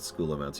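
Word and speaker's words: Scholomance: I have earned the chapter's favor at last and granted entrance into Sholomance. Yes, I know they pronounce it Schoolomance. You know I don't care. Today, my final ascent into glorious undeath begins.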